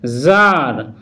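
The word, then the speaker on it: tsar: Role eight, কোনো ওয়ার্ডের শুরুতেই টি জেড একসাথে থাকলে তখন কিন্তু ওই টি লেটারটির উচ্চারণ সাইলেন্ট হবে, যেমন জার জার, জ্যাডিক জ্যাডিক, জারা জারা, জারডম জারডম, জারিনা জারিনা, জারিজম জারিজম ইত্যাদি।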